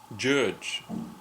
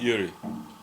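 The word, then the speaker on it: György: Judge, not Yuri. You'd have to go a little further into G-Y.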